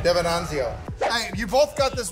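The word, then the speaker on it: Devenanzio: Mm-hmm, that's how you pronounce it. DiVenzanio.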